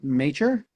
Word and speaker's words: Major: Um, you is your last name pronounced major? Yeah. Major. Major.